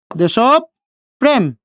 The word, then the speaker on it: দেশপ্রেম: দেখেন, দেশপ্রেম, দেশ, পর সাথে র ফলা যুক্ত হয়েছে কোথায়? মাঝে। যদি মাঝে যদি উচ্চারিত হয় তাহলে কয়বার উচ্চারণ হবে? দুইবার। দুইবার করলাম। দ্বিতীয়বার উচ্চারণ হচ্ছে কোনটা? এই পটা না, তার সাথে সেই র ফলাটা যুক্ত করে দিচ্ছি। তাহলে দেশব প্রেম, ধাক্কা খাচ্ছি, হস দিলাম।